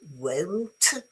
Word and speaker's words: won't: Okay, this one is won't as in phone, cone, and bone.